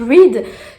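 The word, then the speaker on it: Reid: Reed, R-E-I-D, Reed, je crois que ça se prononce. Reed, qui est un chasseur de sorcières et je crois qu'il va y avoir une romance entre les deux.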